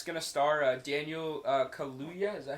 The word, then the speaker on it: Kaluuya: So the poster for Jordan Peele's new horror film, Hope, that came out, and it's going to star Daniel Kaluuya.